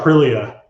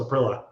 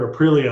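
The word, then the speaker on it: Aprilia: It's like it's like when he saw Arilia, he the first time he saw it, he goes, "Oh, it's a prill." And despite hearing the word arilia all the time, he just stuck with no.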